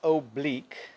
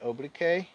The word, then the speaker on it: oblique: notice that it is oblique and i always wanted to say oblique right but we pronounce it oblique it just means slanted